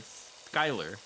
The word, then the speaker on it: Schuyler: I said Skyler because that's how that name is pronounced.